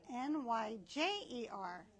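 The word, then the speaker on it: Nyjer: So, but um in 1998, the Wild Bird Feeding Institute changed the name to NY Jer and we that's why we call it Niger, which is the way you're supposed to pronounce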